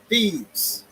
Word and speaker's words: Thebes: Thebes. Thebes. That's how you say it.